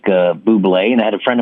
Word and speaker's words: Bublé: Because their last name, is your character's last name pronounced Bublé?